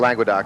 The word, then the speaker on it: Languedoc: How do you pronounce it? Languedoc? Languedoc.